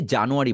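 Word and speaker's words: January: এই যে জানুয়ারি বলি আমরা, এইটাকে একটু অ্যারি বলার চেষ্টা করবেন। অ্যা রি, অ্যারি। অ্যা বলার সময় একটু চন্দ্রবিন্দু ফিল করবেন এর উপরে।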